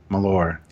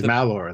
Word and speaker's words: Malor: How do you say his name? Malor. Which is so odd to me, because the official anti-hero of all Klingon culture is Kes' brother Molor. Yes. He's Malor, though.